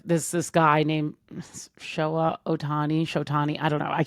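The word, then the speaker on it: Ohtani: And so we were like watching on like this this guy named Showa Otani. Shoti, I don't know. I cannot pronounce.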